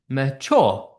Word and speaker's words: mature: So we said stressed followed by unstressed trochee. Okay, yeah, mature, because like England, tissue, legend, mature. So it's the opposite. Mature is an I am, not a trochee.